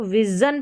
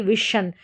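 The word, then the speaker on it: vision: अब एग्जांपल्स देखें यहाँ पर विजन, ठीक है, इसको विजन पढ़ रहे हैं, जन ना कि विशन, और ये है मिशन,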